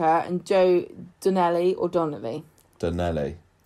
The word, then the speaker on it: Donnelly: Donnelly. I'm going to say Donnelly. Because it rhymes with Gino Ginelli.